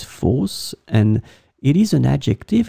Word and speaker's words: fausse: as we saw it would be pronounced the same way falce and then here it's